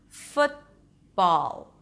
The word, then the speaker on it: football: But you raise the tongue up for the T, the tip of the tongue remains up, blocking the air, and then you continue directly to the next sound, football.